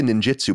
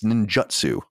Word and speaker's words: Ninjutsu: with n Ninjutsu because I always say ninjitsu but it's Ninjutsu special attacks and War